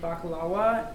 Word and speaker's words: baklava: also have sweets and baklawa or baklava like how we probably pronounce it here is a pastry covered